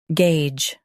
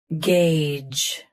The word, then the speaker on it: gauge: Gauge. Gauge. Start with gay, then end with a soft J.